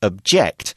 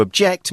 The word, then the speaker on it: object: Here we've used object as a verb, and it's pronounced differently. As a noun, it's object. As a verb, it's object. And to object means you are opposing something, you're saying you don't like it, and you're explaining why.